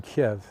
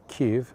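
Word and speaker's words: Kyiv: made a speech in Kev as you will remember or Kiev as has been become popular to say because Kev is closer to the Russian pronunciation but I'll leave that to you my my Ukrainian friends don't seem to care whether I say Kev or Kiev no one ever got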